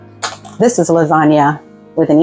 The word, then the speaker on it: lasagne: This is lasagna with an E. It's still pronounced the same because in Italy the E sounds like A, but it means multiple lasagna noodles.